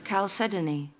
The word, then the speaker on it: chalcedony: pronouncing it correctly okay so you say it there and i'll say it again chalcedony okay let's see how they say it calcedoni that's very good oh it is i'm pronouncing it correctly okay you are now